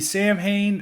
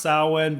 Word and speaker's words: Samhain: Third album would be Sam Hain, November Coming Fire. And I know Sam Hain's supposed to be pronounced Samhain, but Glenn Danzig, he did this band after